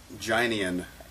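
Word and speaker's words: Guinan: name of course being gynan gynan see I didn't know cuz I wasn't sure how the pronunciation of it it's it's ginan that's what I was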